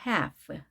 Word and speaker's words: half: a half. L은 발음되지 않습니다.